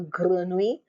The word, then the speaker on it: grenouille: Notice how I pronounce the double L. Grenouille, grenouille. Push it to the back of your mouth.